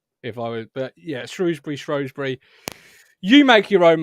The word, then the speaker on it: Shrewsbury: evening everyone shrewsbury's uh is it shrewsbury or shrewsbury i say shrewsbury and somebody did commend me and i think it might have even been a shrewsbury fan and saying martin you say it right but how do you say say it i would have said shrewsbury because it's ooh isn't it yeah but then you